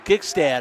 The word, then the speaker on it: Gigstad: I always get his name wrong. Gigstad, I should say.